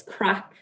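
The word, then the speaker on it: craic: it's an irish word it's crack it's spelled c-r-a-i-c and it just means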